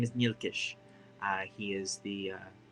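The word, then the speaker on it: Nyilkish: his name is mielisk his name is nilkish uh he is the uh the bosun boson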